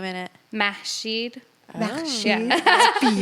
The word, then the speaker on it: Mashid: Mashed Mashid.